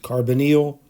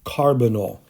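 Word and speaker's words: carbonyl: ways I pronounce it carbonal um carbonal and it seems like the emphasis is supposed to be on the first syllable carbonal so if I mispronounce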